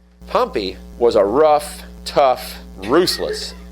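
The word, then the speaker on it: Pompey: Pompy is how you really pronounce his name, by the way.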